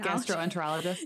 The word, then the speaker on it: gastroenterologist: Primary Care my Gast gastro I can never pronounce this word gastron it's hard gastroenterologist yes thank you um it's aough they're a